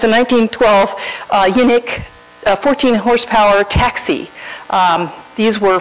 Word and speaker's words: Unic: It's spelled UNIC, and I'm assuming it's pronounced unique because they said that they were trying to build a car that was, unique, because they were trying to build a car that was unique.